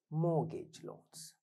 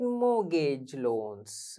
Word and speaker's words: mortgage: but we rarely get mortgage loans huh m o r t t is silent mortgage loans it is